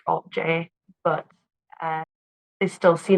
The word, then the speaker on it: Alt-J: so that they chose to write it and pronounce it like Alt J but uh they still